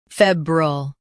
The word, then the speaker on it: febrile: In UK, fee is emphasized. Febrile, febrile.